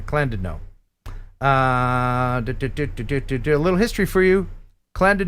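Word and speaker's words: Llandudno: queen of welsh resorts clanded no and i only know that because he put a pronunciation thing in there clan did no little history for you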